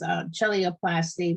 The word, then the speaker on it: cheiloplasty: Now, so we talked about the treatment is surgery, and that surgery is chelioplasty, which is spelled CHEILOPLASTY.